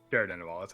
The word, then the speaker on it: Caer Dineval: Caer Dineval. That's how you pronounce it.